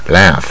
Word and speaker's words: laugh: 大卷舌，舌头卷一点 laugh 不要发成不卷舌 laugh